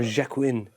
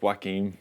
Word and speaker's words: Joaquin: Or Jacqueline? Oh, it's Joaquin. Joaquin. In Joaquin in Phoenix. D4. I think if you say Jordan Lamour, you say Joaquin.